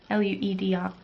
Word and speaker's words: Lueder: And it's a free pattern on Ravelry by Erica Lueder, L-U-E-D-E-R. So Lueder is how I would pronounce it with the German pronunciation.